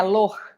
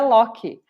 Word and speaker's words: Loch: A pronúncia original lá na Alemanha é Loch, mas aqui no Brasil ninguém fala Loch. Aqui no Brasil é Locke.